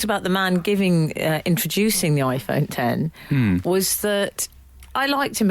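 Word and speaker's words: iPhone X: iPhone 10. Is it called iPhone 10? Yes. It's spelled X.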